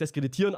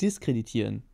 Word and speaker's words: diskreditieren: so dargestellt ne scheinbar du darfst deskreditieren aber darf Dich auch heiß es heißt diskreditieren distanziere dich mal von